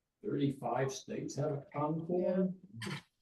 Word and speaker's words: Concord: 35 states have a Concord. Now, they probably mispronounce it like they do in New Hampshire, but down here, we're in Concord.